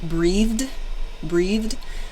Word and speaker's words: breathed: And then finally, the third sound is a soft D in the word like breathed. So the D sound is a bit softer. But there are essentially three